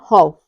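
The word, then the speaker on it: half: है अगला रूल है यदि किसी वर्ड में एल के बाद एफ आता है तब भी हमारा क्या होता है एल साइलेंट रहता है जैसे ही है कॉफ और हफ इसमें क्या है काफ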